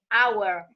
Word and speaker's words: hour: And when we have the H, that is a consonant, but it is silent, as in our or as in honest, we say an hour, an honest man.